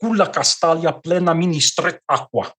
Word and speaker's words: Castalia: Okay, Castalia, and here I'm using the correct pronunciation, which is the Portuguese.